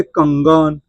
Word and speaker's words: कंगन: तो यहां पे अनुस्वार का उच्चारण जो हम कहेंगे अनुस्वार का उच्चारण यहां पे अनुस्वार का उच्चारण अंग हो रहा है। अंग हो रहा है। क्यों? क्योंकि इसको हम पढ़ेंगे कंगन।